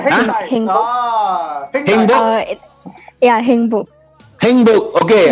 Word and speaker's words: 행복: 행복. All right, Heng Hengbok.